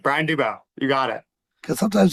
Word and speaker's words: Dubow: Brian Dubow.